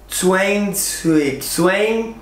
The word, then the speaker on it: Zwanzig: Zwanzig.